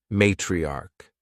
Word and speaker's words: matriarch: opposite word is matriarch matriarch notice that the end of this word sounds like a k matriarch and this is